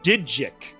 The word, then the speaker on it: Digic: You must have missed my message earlier because it's pronounced Digic. Even though I get why you would call me that, considering it does sound like your name, but with an extra K sound.